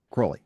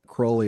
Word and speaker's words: Crowley: Cly. Crowley. Yes. Crowley. Sorry. Rhymes with holy.